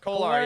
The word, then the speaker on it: Kolar: Kolar? Kolar, yeah.